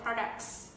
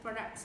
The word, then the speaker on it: product: Product, chứ không là pro, nó không là chữ O ạ.